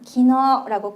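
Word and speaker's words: 昨日: 어제 발음할 건데 키노으라고 쓰지만 기너라고 끌어집니다.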